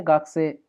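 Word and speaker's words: 学生: भी बताया था कि कभी भी ना ए साउंड के बाद जब भी ई आता है, हमने ओल्ड वीडियोस में कई बार एक्सप्लेन किया है, तो हम ई को साइलेंट कर देते हैं। तो जैसे सेन से ही नहीं बोलेंगे, सेन से, गाक से ही नहीं बोलेंगे, गाक से, इस तरह से।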